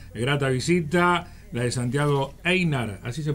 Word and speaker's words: Eynard: Una grata visita, la de Santiago Einar, ¿así se pronuncia? Sí, Einar.